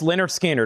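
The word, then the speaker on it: Lynyrd Skynyrd: The next is another popular Analog Productions, Pronounced Leonard Skinner, a 2 LP, 45 RPM, $64.99 on Leonard Skinner.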